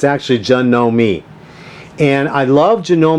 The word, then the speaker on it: Janome: way you pronounce it it's pronounced John know me and if you go online it's tells you that some some some videos when he listened to him they'll say Janome Janome but it's actually Jun